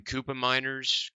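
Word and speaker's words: Koopmeiners: is going to be Fiona Koopa miners miners yes is how you say his name he played centre back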